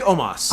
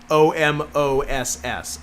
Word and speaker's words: Omos: I think it's pronounced like it's spelled Omoss. I think it's Omos. Yeah, I think so too.